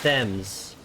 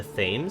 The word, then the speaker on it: Thames: I've been taught to pronounce the river as Thames.